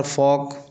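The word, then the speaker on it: folk: उसी प्रकार फोक फोक में भी एल साइलेंट होता है।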